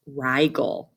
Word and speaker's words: Rigel: color and here's another popular very hot star pronounced rigal and that is found in the constellation orion